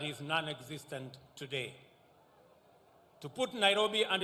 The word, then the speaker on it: Nairobi: let us recall that the city is an anglicized pronunciation of encare Nairobi which is a kimasai means which in kimasai means the river of Cool Waters for the Maasai a